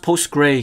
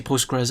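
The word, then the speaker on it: PostgreSQL: postgres sql postgres sql i think it's pronounced post gray because i heard someone one time say post gray but sometimes but i usually say postgres i don't know anyways so let's go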